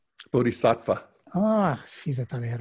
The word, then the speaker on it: Bodhisattva: Bodhisattva.